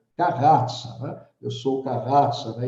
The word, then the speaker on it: Carrazza: Quando chegou a minha vez, né, ele pronunciou o meu sobrenome em italiano, Carrazza.